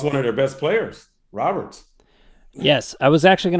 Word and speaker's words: Robert: Is it Luis Robert or is it Robert? How do you say his name? It's actually Robert. It's Robert. Correct? I guess he's part French.